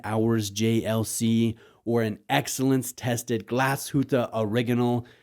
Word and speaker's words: Glashütte: And I know some of you don't like when I say Glashütte Original, aber ich spreche ein bisschen Deutsch. Ich versuche die richtige Aussprache zu verwenden, wenn ich über eine deutsche Marke spreche.